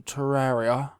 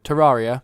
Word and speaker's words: Terraria: heard of it's a something that's pronounced differently by different people I like to pronounce a Terraria but Trot how do you like to pronounce a trot Terraria Terraria was you say Terraria yeah ter Terraria to